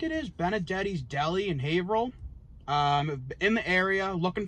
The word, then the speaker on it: Haverhill: we're here in haverhill haverhill massachusetts uh it's haverhill for you non-massachusetts people just so you know it's not spelled like that we'll put the spelling right there